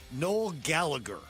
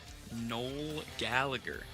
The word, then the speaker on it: Noel Gallagher: So, I'm going to go with null Gallagher. Nol Gallagher, otherwise known Noel Gallagher, I guess to pronounce it.